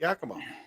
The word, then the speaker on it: Yakima: How do you say Yakima? Just like that. Yakima.